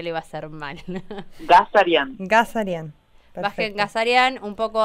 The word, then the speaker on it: Ghazaryan: No lo quería pronunciar porque sé que lo iba a hacer mal. Ghazaryan.